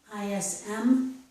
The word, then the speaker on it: ism: Notice this ending, ISM, ism, that occurs in many words. They all have the z sound, such as heroism or optimism. They have ISM at the end. Pronunciation is with the z.